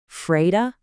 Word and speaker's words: fredag: Fredag, and we say fredag.